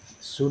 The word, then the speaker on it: should: HALF क्या पढ़ा गया, अब जैसे कुड है, ऐसे तो बहुत वर्ड मिल जाएगा, जैसे SHOULD शुड हो जाता है, और WO ULD क्या होता है, वुड।